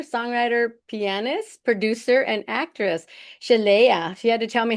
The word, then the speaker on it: Sheléa: It's Chala. Chala.